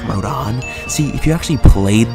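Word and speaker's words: Rodin: yes I know it looks supposed to be pronounced rodent but it's actually supposed to be pronounced Rodan see if you actually played the games you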